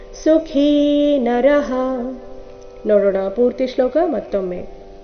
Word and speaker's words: ಸುಖೀ: ಸಯುಕ್ತಸ ಸುಖಿದರಹ ಸಯುಕ್ತಸ ಸಯುಕ್ತಸ ಸುಖಿ ಕಿ ಇಲ್ಲಿ ಮಹಾಪ್ರಾಣ ದೀರ್ಘ ಸುಖಿ ನರಹ ನೋಡೋಣ ಪೂರ್ತಿ ಶ್ಲೋಕ